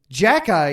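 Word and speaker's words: Xhekaj: NHL goal on Saturday Jack eye you think oh that's doesn't sound too hard to pronounce yes but it's spelled x h e k a j that looks just like Jackie doesn't it his teammates have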